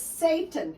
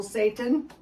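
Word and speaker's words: seitan: this first this is satan it's pronounced like the devil satan here's what it looks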